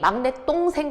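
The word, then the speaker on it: 막냇동생: 학생들이 막내 똥생 그러니까 뭔가 똥 하니까 좀 발음이 그렇잖아요. 그래서 자꾸 막내 동생이라고 하는데 잘못됐습니다. 표준 발음은 막내 똥생이에요. 발음이 막내 똥생. 요렇게 발음하죠.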